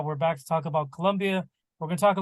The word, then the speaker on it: Colombia: my daughter's quinceanera and I keep saying it wrong it's Colo Colombia Colombia um so we travel to